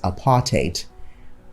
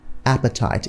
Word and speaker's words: apartheid: finally we've got apartheid apartheid can also be pronounced as apartheid not appetite if you say appetite